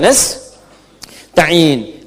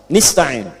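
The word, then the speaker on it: نستعين: Iyaka na'budu wa iyaka nastain. Ada yang baca pakai kasrah. Nista'in. Ya. Nistain ini bacaannya dari Bani Asad, Rabiah, dan Bani Tamim. Tapi kita baca harus menggunakan fathah kalau untuk kita ya.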